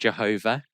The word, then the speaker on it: Yahweh: just to complicate things, most scholars would say that the name Yahweh is pronounced Jehovah. Okay, it makes no sense, I know, but the Hebrew alphabet, there are no vowels, and Y sound like J.